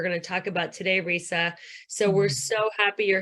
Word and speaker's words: Risa: So Risa, you just said rhymes with Lisa.